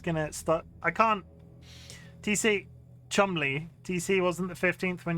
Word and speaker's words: Cholmondeley: Pronounce Cholmondeley? Cholmondeley? Diving deep into the... I'm just gonna start... I can't... TC... Chumley.